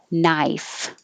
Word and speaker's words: knife: Same for the K in combination. You won't hear the K, you only hear the N. Knife. The vowel is I, knife.